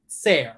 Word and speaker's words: Sayre: This is the one, the only, Sayre. I always feel like I pronounce your name wrong, your last name wrong. Sayre, right?